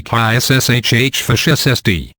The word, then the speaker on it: Karshfest: Karshfest, pronounced throaty Kshshfsd.